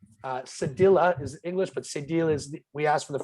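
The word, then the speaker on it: cédille: answer is a deal is the the french pronunciation of it uh cedilla is english but sadil is we ask for the french it's correct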